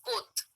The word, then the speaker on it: Comte: It is Comte. August Comte. You have to pronounce it in that way.